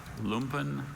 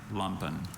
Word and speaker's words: lumpen: I have two pronunciations, lumpen and lumpen.